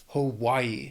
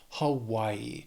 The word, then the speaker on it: Hawaii: It's our only island state, Hawaii. It has 3 syllables, stresses on that second syllable, Hawaii. And again, the spelling can throw off the pronunciation a little bit, but yeah, just remember, Hawaii.